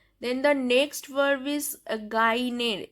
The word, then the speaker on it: gagner: Then the next verb is gagner. This second G is silent.